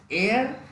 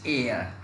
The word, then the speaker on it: heir: A, N and the, then this air, this, so H-E-I-R here now, this is air, means S sound is dropped there, S sound is not pronounced here, so its pronunciation is air.